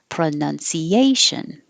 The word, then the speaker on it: pronunciation: to be stressed so it's five syllables stress on the fourth syllable pronunciation pronunciation that's different than